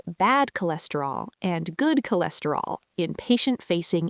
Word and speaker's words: cholesterol: It's pronounced cholesterol with the stress on less.